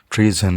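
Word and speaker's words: treason: तो okay, the next term is ट्रीजन। इसमें एस जो है जेड की इसमें साउंड है, ट्रीजन जो है वो आम आसान अल्फाज में समझ लें गद्दारी के लिए यूज़ करते हैं।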